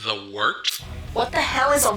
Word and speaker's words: wort: This is the Wort on Govs Radio. It is the Wort. Not warts, not forts, not short.